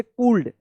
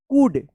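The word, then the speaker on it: could: कैफ सी ओ यू एल डी। तो क्या पढ़ेंगे इसको? कूल्ड। आप पढ़ते होंगे कूल्ड। लेकिन इस तरह से नहीं होगा। इसका सही उच्चारण होगा कुड कुड नहीं कुड कुड यहां पर भी क्या है? एल साइलेंट जितने भी आप ट्रांसलेशन वगैरह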